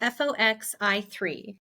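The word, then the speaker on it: FOXI3: Fox FOX I3.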